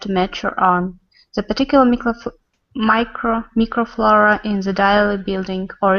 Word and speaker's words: microflora: This one's micro, not micro, microflora. Microflora. Mm-hmm. Yep, this little prefix is always pronounced micro in English. So you have microphone, microscope, all those kind of things.